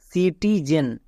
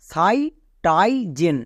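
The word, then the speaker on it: citizen: তাহলে পুরোটা কি দাঁড়ালো সি টি জেন সি টি জেন এখানে অনেকে ভুল করে আই এর লং সাউন্ড আই করে দেই মানে সাই টাই জেন এরকম উচ্চারণ করে কিন্তু এটা একচুয়ালি ভুল তাই তো বলছি কখন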